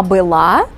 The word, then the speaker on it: была: была And you remember We pronounce This verb form with the Accent on the last syllable La она была оно было они были